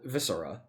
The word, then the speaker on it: Viscera: Because they also released a new song called Viscera. Is that how you say the word? I hope. Yes. Okay. Yes. Yes. Yeah. Soft C.